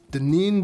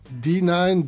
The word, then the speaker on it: Denine: 1965 starring the stunning Denin Dubois. Say it right. D9 Dubois.